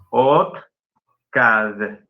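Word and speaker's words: otkad: OTCAD.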